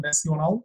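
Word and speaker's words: Nasional: It's in fact, although national, they write it that way, but it's pronounced as national, as same as English.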